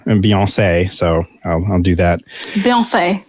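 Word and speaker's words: Beyoncé: Beyonce, yes. That's right. That's right. That is how it's supposed to be pronounced.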